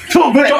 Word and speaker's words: Toblerone: Oh my God, Toblerone. Toblerone. Oh, yeah, that's the correct pronunciation.